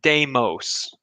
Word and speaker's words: Deimos: I've heard from people who speak better Greek than I do. Phobos is the preferred pronunciation, and Deimos.